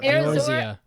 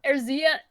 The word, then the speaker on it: Eorzea: How do you pronounce it? Wow. Eorzea. Eorzea.